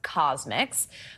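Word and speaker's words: CosMc's: It's pronounced Cosmics.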